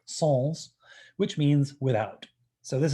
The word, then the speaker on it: sans: have it without it's known as a sans which is the really really mispronounced french word sols which means without so